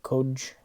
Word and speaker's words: Qoj: of seem similar and that really probably have no true pronunciation this is the codge or code class this is the coug or cog class and finally we have